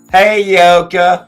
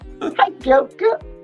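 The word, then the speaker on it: Heyoka: Hey, Yoka. Hi, Yoka. Sounds like she's saying, hey, y'all, from like Georgia. Hey, Yoka. Hi, Yoka. It's like, hey, you okay?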